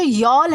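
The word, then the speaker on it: y'all: दोस्तों ये जो यॉल है इसे हम कैसे प्रोनाउंस करते हैं? यॉल प्रोनाउंस करते हैं क्योंकि हमें जल्दी बोलना है होता है। आर यू ऑल coming to the party, तो हमने क्या किया कि यू ऑल को शॉर्ट कर दिया।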